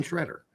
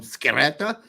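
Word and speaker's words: Sciaretta: It is Brian Schroeder. That's how he told us to say his name. So, I mean, what do you want me to do? Call him Scheretta? Because that's how it would be pronounced in Italian, but that's not how he pronounces it. So I'm going to pronounce it the way he wants me to pronounce it, which is Schroeder.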